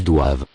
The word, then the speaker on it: doivent: Classic ending the plural form. E-N-T. Are not pronounced. Ils doivent. Elles doivent.